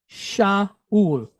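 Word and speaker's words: שאול: So how do we pronounce this part of the word then? Ul. Shaul. Shaul.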